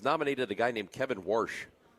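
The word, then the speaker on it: Warsh: a guy named Kevin Worsh. No, spell it. It's W. It's exactly how people some people from the St. Louis area say they worshed their cars.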